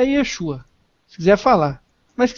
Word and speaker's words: Yeshua: original na língua em que Jesus falava, é Yeshua e ponto final. Yeshua. Não tem nada de Yahoshua, Yahoshua, é Yeshua.